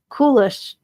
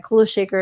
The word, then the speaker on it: Kula Shaker: Kulish Kula Shaker. What? I don't know who that is. Okay. Kula Shaker is how you say it.